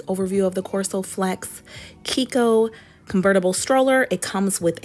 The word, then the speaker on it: Chicco: then also I noticed I've been saying it wrong it's called Kiko not Chico any who it also